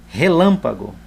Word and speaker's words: relâmpago: Relâmpago. Vou separar em sílaba. Relâmpago. Veja que a sílaba tônica não é a última nem a penúltima, é a antepenúltima.